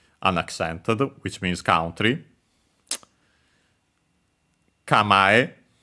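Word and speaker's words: 構え: Kamae, accent on the ma on its own.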